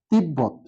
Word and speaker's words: তিব্বত: ছিল সেখানে বলা হয়েছে ব যোগ ব্যান শব্দের মাঝে বা শেষে থাকে তাহলে ব এর উচ্চারণটা বজায় থাকে তিব তিব বদ তিব